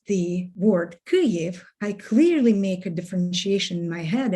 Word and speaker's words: Kyiv: this word on and put in stress on the first syllable the consonants on the